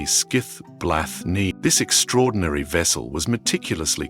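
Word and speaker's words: Skíðblaðnir: The first and perhaps most versatile of these is his wondrous and sentient ship Skidblad, pronounced roughly Skiith Bla.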